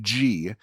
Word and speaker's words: Ge: Mickey G because his last name is literally G it's GE but it's pronounced G so they weren't it wasn't like